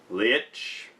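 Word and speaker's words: Leitch: bigger budget and the new director is David Lich hey ho that's how you pronounce it who was one of the co-directors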